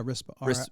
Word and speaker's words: Rispa: Is that how you say her name? Yeah, Rispa. R-I-S-P-A, yeah. Rispa and Deborah.